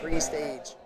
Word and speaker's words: Prestage: So, my last name is spelled like pre-stage. You know, some people try to spell it like prestige. Okay. But it's pre-stage.